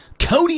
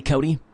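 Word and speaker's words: Kody: Cody with a K. Now I know Cody's with a K before for a boy's name. Well, I've K-O-D-Y, Cody.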